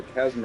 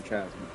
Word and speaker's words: chasm: There is more than one way to pronounce it, so it's either Chasm or Chasm, but...